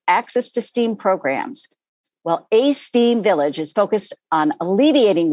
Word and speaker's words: aSTEAM: Yes, so it is aSTEAM Village. Phonetically like aSTEAM, right?